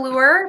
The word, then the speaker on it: Luer: everyone my name is luer pronounced like a fishing lure my pronouns are she